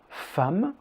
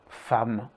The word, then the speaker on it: femme: leçon il y à quelques mots je le femmes filles garçons 1 une la suit commençons